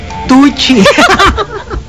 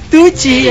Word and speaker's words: Tucci: Tucci. Tucci rhymes with Gucci.